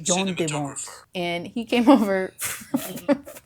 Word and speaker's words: Jan de Bont: And this time we will see how to pronounce in a regular Dutch accent, Jan de Bont, Dutch Jean de Bont.